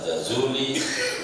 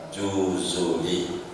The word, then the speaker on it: Jazuli: Saudara boleh baca Jazuli, saudara boleh baca Juzuli, silahkan saja bacanya. Itu suka-suka, lagi Arab gundul ya kan, boleh. Tapi orang Maroko menyebutnya Juzuli, orang Maroko menyebutnya Juzuli.